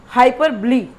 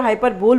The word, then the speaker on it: hyperbole: It is not hyperbole. Very first I want to tell you the pronunciation of this word. You can search on the net. hyperbole है ना, गलत बोलते हैं जो हाइपरबोल बोलते हैं.